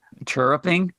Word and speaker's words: chirruping: Chirruping?